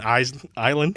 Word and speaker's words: island: Why is there S in island? In, I'm starting to say S. you almost said it. In an island. Yeah, as a kid, I always would pronounce the S's.